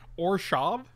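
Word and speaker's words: Orzhov: Keebler says we need to pronounce it Orshav. Orshav.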